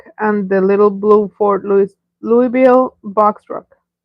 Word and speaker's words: Louisville: Kevin says, you have the R model Mac and the little blue Ford Louisville box truck. The S is silent.